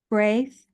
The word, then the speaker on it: Braith: Hypno Regression and Oh, and and tell me how to pronounce B R AI T. Brave. Say it again. Braith. Braith.